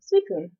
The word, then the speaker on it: Suicune: If you spelled it out in the Romanized Japanese Romaji, it would be Suikun. It would still be pronounced the same, Suicune.